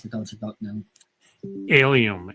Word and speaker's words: Alliaume: Alliaume. It's almost like alien except with an M.